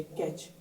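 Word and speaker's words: catch: तीनों साथ आते हैं तो यहां पर टी साइलेंट रहता है इस वर्ड को पढ़ेंगे मैच इसको पढ़ेंगे बैच वैसे ही सी ए टी सी एच हो तो इसे पढ़ेंगे कैच इसे पढ़ेंगे लिन ऑन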